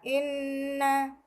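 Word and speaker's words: إِنَّ: Inna terdapat hukum bacaan ghunah karena ada nun yang bertasjid, sehingga cara membacanya harus ditekan atau didengungkan. Inna.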